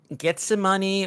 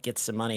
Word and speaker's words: Gethsemane: I mean I think I say getsemane because it's kind of like the Biblical term but get some money I think it's probably the proper way to say it uh how did the